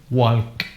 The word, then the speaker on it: walk: happens with the word walk21 new that is incorrect and the way you pronounce it is like the Asian restaurant walk talk to me I'll walk with me hey okay